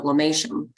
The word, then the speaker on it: lomatium: quick Google search and the the the plant is spelled LOM a t IU M and it's pronounced lomatium so this is one